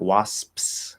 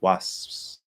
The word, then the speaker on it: wasps: ghost okay and then if it's p like wasps right wasps was that's all you have to do hold the s and just without closing the lips completely um that creates the illusion of the p uh so do people